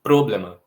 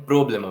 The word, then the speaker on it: problema: Em problema, a sílaba tônica não pode ser o pro, porque senão a palavra ficaria problema. Problema, eu tenho um problema para resolver. E a sílaba tônica também não é o mar, senão ficaria um problemar. Tenho que resolver um problemar. A sílaba tônica é o blem, problema, problema.